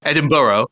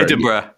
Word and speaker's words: Edinburgh: Edinburghough.